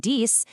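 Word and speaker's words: dix: But for six and dice, the X sounds like an S when you're just counting alone, but it magically changes to a Z frown if the next word starts with a vowel or it becomes totally silent if the next word starts with a consonant.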